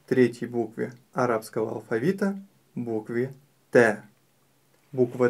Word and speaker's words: ت: Т. Т. Буква Т- мягкая буква, и не стоит её произносить твёрдо, говоря та или же т. Нет, нужно её произносить мягко.